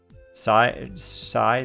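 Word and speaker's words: sidhe: Side or she? She says how you pronounce it, she.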